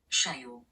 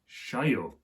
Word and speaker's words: cheio: the screen now, and the pronunciation of that word would go something like CHEIO. CHEIO.